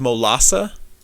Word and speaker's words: Molassa: to do more reading it is it is pronounced molassa uh m o l i have bad eyes